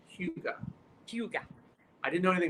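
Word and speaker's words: hygge: Apparently, it's pronounced Huga.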